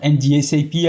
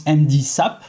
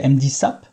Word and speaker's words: MDSAP: explain us how to understand the MD SAP not NDS ap as I'm saying because she's telling me that we should pronounce MD SAP so let's say MD SAP and how to avoid